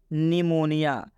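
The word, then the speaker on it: pneumonia: अब देख लेते हैं निमोनिया इसमें पी साइलेंट है इसमें पी का उच्चारण नहीं किया जा रहा है मतलब इस इसमें पी को हम बिल्कुल नहीं पढ़ रहे हैं निमोनिया का मतलब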